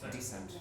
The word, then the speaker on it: descent: Descent. Descent, yeah. And you know that honestly in... yeah, it's very special pronunciation of this word. Ascent, descent. Decent це достойний, а descent це спуск. Descent. Descent.